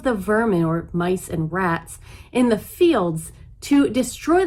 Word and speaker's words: Ra: ra a ra is spelled with an r e as opposed to r a as it's pronounced ra was sun god